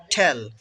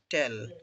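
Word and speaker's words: tell: Next, ঠেল উচ্চারণটা হবে ঠেল নট টেল।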